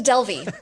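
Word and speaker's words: Delvey: refreshing i love that oh delvie or is it del vey and uh we've got lance as the best player on that one uh rebecca which way is it pronounced thank you google it's a delvie it is okay uh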